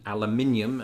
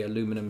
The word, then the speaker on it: aluminium: We say and write aluminium back in the UK, and you say aluminum here.